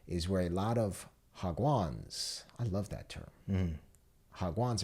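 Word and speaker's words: 학원: And there's a lengthy note here that says, in a nutshell, pronounced Hagwan, sort of like Wagwan, is a for-profit private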